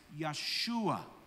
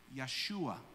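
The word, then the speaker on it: ישוע: So we pronounce the name Jesus in Hebrew as Yeshua. Yeshua.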